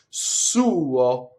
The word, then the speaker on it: suo: So possessive pronouns in Italian have usually have two syllables, right? The second syllable is really a semivowel, so you'll see it written over 1 note. You actually have to make 2 notes, right? The U is longer than the O, so watch again.